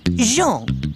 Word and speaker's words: Jean: John Thomas, eh? No, Jean, with a soft J.